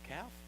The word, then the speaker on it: calf: He makes a golden calf. calf. How do you pronounce it?